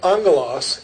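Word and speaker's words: ἄγγελος: transliterated this way and when two gammas come together in greek you get the ng thing pronunciation so angolas angel is a very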